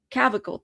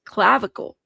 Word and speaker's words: clavicle: Cavicle. Thank you. Your collar bones. Clavicle.